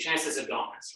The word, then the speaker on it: transverse abdominis: So you have to actually train another muscle called your TVA, your transverse versus abdominis, your transverse abdominis, right? That's the right way to say it.